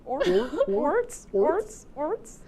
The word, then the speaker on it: Orts: Is your name not pronounced Oritz? No. Orts.